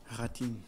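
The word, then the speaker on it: Rattín: Donc, à la 33e du match, Antonio Ratin, c'est Ratin ou Ratine, Jean-Paul? Ratine. Antonio Ratine, Jean-Paul là pour la prononciation, merci beaucoup.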